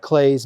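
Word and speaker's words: Klee: You Look you've got Clay's name I know it looks like Clee but it's pronounced clay we have also the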